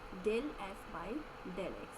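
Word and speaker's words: ∂f/∂x: So this is partial derivative of f with respect to variable x, and this is pronounced as del f by del x.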